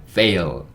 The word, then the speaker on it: fail: 그래서 제 가 " 페일 "(pe-il) 이라 고 쓴 건데 , " 페일 ", " 페일 " 이라 고 좀 연습 하면 "fail", "fail" 처럼 발음 할 수 있을 거 예요 .